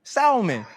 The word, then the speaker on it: salmon: Salmon. I hate that dog. And you know, and it's like and and what I hate the most is like when they say salmon with the L at the restaurant, I don't like how